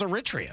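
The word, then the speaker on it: Eritrea: No, I just know how to pronounce Aritria.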